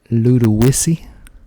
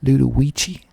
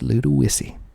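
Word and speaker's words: Ludowici: a couple of days ago next we have little wissy little weezy spelled l-u-d-o-w-i-c-i you would think that would be pronounced ludawichi but it is not pronounced ludowichi it is pronounced little wissy little wissy and if that is not right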